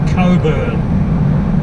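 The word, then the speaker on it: Cockburn: to the border at Coburg or as some people might pronounce it cockpur per single tree they're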